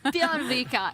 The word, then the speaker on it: Bjørvika: That pronunciation is spot on. Bjørvika, incredible lineup, a format that rewards fighting chess.